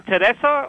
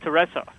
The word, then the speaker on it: Teresa: Did you say your name Teresa, or is it Teresa? It rhymes with Vanessa. It's Teresa. Okay, Teresa.